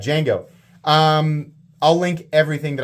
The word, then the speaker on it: Django: will Absolut I think I've been saying Django it's D Jango and I know that people are going to have corrected my pronunciation and not bothered to finish the video that's fine my bad Jango um I'll link everything